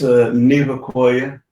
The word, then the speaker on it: Nevaquaya: really good welcome to the show and now pronounce your last name because I know I didn't say it right it's a new acquire okay Comanche name wonderful and tell us a